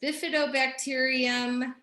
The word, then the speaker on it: bifidobacterium: to look this up to see how to pronounce it properly it's but bifidobacteria there it is bifidobacterium lactus see you didn't know it's going to